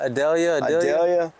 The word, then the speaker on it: Idalia: Thanks to Idalia? Yeah. Is that how you say it? Idalia.